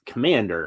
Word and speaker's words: Komand'r: But Komand'r, her name is Komand'r.